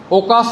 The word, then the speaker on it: ওকাস: তাহলে কি দেওয়া থাকে? ওকাসা। ওকাস দেওয়া থাকে না? দেওয়া থাকে কি? ওকাস। তাহলে আমরা পড়ব কি? ওকাসা।